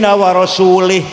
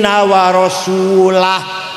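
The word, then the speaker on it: وَرَسُولُهُ: Ada orang baca Quran, wa annallaha bari'um minal musyrikin wa rasulih. Allah tidak melindungi orang musyrik dan tidak melindungi Rasulullah.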